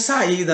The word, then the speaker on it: saída: Então nós temos saída, né? S-A, a letra I que fica isolada, a letra I na separação de sílaba da palavra saída não fica junto do A, fica separado, fica afastado do A.